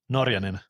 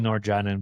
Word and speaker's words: Norjanen: Norian. Okay, don't worry. I've heard the worst like whatever people say like it's you can call me Noranin, but the proper way of saying it's Norian.